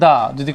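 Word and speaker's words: the: তাহলে এটাই বোঝাতে চাইলাম যে সিবির দাদি মানে কনসোনেন্টের আগে দা বসবে, ভাওয়েলের আগে দি বসবে।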